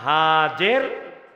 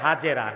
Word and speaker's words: হাজের: তার দুইজন স্ত্রী ছিলেন একজনের নাম হাজের বাংলাদেশে কয় হাজেরা না আসল উচ্চারণটা কি আসল উচ্চারণটা কি হাজের আরেকজন সারা আরেকজন একজন